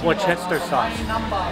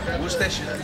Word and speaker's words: Worcestershire: Worcester sauce. We always say it wrong. Worcestershire.